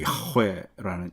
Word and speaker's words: 야훼: 근데 이제 두 가지 이상이 섞여 있는 것을 좀 나누면 한쪽 이야기는 이제 여호와, 우리 성경엔 여호와라고 되어 있고 히브리 발음으로는 야훼라는 이 단어로 쭉 설명되어 있어요.